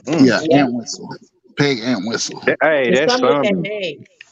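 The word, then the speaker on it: Entwistle: her last name okay I'm spell it I'mma spell it e n t w s t l e an whistle yeah an whistle Peg ant whistle hey name what or P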